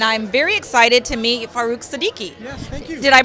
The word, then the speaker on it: Farrukh Siddiqui: Appley Health, and I'm very excited to meet Farrukh Siddiqui. Yes, thank you. Did I pronounce that correctly?